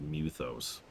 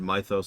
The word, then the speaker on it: Mythos: a personal thing but I hate how they pronounce muthos I've heard Mythos and I've heard Mythos but muthos no I really wasn't joking